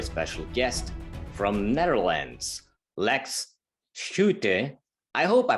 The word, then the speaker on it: Schutjes: with pronouncing my surname in dutch it's called switches but usually i use